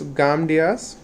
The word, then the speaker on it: Gamdias: My bad, I think I pronounced it wrong, and Kenny just corrected me. It's Gamdias, and it has very nice feel to it.